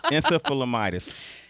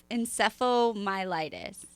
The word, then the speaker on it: encephalomyelitis: Okay, and acute disseminated encephalomyelitis. Damn, how you say that? Encephalomyelitis. Close. How you say it? Encephalomyelitis.